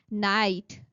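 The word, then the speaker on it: knight: Debt debt night. K here is silent.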